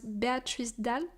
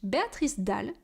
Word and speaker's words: Béatrice Dalle: I just saw, that one of the actresses was Béatrice Dalle. Why am I pronouncing it in English? Béatrice Dalle in French.